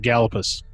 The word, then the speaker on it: Gallipolis: stayed over in um gallipolis gallipolis kiel pronounces it gallopis galapas we stayed over there